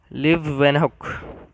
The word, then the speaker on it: Leeuwenhoek: Pronounce कैसे करेंगे हम उसको? लिव वेनहॉक discovered cell in 1674, found the presence of living cells in the pond water.